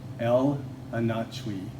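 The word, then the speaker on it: El Anatsui: and what's the name of the artist again El anach that's how it's pronounced e l a n a TS UI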